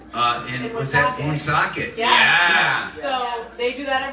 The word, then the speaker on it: Woonsocket: Am I doing it too hard on the ooh? You are a little Woonsocket. Woonsocket. Yeah. There you go.